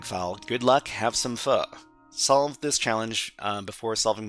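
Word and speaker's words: phở: So we got Foe is tasty. Foe is tasty, sure. Okay, please try Dojo CTF. Dojo CTF, is that one active? With Dojo, are you talking about this one? It's pronounced pho.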